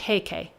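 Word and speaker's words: 平家: The Taira, which is that kanji that you see on the left under there, can also be pronounced heike.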